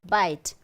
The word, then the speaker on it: bite: The E is silent, so we don't have to pronounce this. But then the presence of E changes the pronunciation of the word, right? Bit, bite.